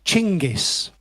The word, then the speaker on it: Genghis: what he did yeah also not just Genghis but chingis was the more Mongol pronunciation his big brother chungus